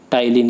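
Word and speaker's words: ptyalin: टाइलिन, यहाँ पर पी जो है वो साइलेंट है।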